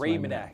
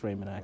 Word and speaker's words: Raymanak: I always feel bad because I always say his last name wrong. It's Raymanak. It's Raymanak.